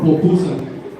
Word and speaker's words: pupusa: How you say it, po or pu? Popusa or popusa? Popu? Pu, okay. And I had a Salvadorian friend, he was getting mad at me, no, es popusa, es pu!